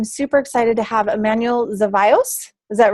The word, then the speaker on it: Zevallos: I'm super excited to have Emanuel Zevallos. Is that right, Emanuel? Yeah, you actually pronounced it Yay.